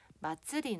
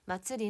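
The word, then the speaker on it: まつり: 그래서 언제 있냐면 요즘에는 마쯔리 나 마쓰리 아니지 여러분 마트 레이저 정확한 발음은 마츠리 나 불꽃놀이를 보러 갈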